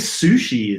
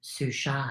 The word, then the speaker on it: sushi: I guess sushi is the same, right? Like you don't ever say sushis. Sushi or is it sushai? No, you don't say sushai.